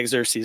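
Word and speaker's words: Xerxes: the Persian exes or something anares I can't pronounce his name xeres yeah xeres there you go but whenever they came back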